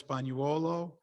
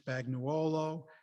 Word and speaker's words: Spagnuolo: Oh, I already told Gail, it's 3 ways. And when you came off of the boat, it's Spagnuolo. And then as it got Englishized, Spagnuolo, then Spagnuolo.